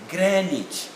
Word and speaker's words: Greenwich: phonetic representation are here greenwich mean time greenwich mean time like that even the americans say the same marriage so the w is definitely not pronounced and the double e